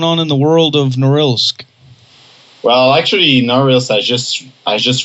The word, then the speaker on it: Norilsk: Is that how you pronounce the name? Yeah, Norilsk. That's correct. Norilsk.